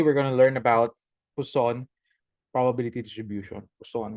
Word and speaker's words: Poisson: So let's call it Poisson, but if you're going to see the proper enunciation of that, pronunciation is Poisson because it's French. But let it be Poisson for now.